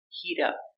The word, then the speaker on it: heat up: Pronunciation, heat up. Heat up. We pronounce our T with a fast D sound.